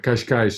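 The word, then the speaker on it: Cascais: it's a place but kashkai also has that um that hard C but it still has that sh sound at the end of it even though um c-a-s-c-a-i-s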